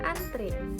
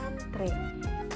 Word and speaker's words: antre: Yang kedua, ada kata atlet, apotik, dan antri. Nah, tiga kata ini merupakan kesalahan dalam berbahasa Indonesia karena yang pertama, antri itu diucapkan dan dituliskan seharusnya adalah antre.